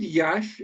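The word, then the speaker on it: Iași: It's like a soft sh.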